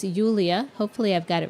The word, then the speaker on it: Yulia: My understanding now is it sounds like Julia, but it does have the Y. So it's Yulia.